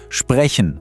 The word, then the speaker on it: sprechen: Hört mal ganz genau hin. Sprechen. Fühlt mal, wo der Laut herkommt. Eher von vorne im Mund, er ist ganz weich, das ist der Ich-Laut.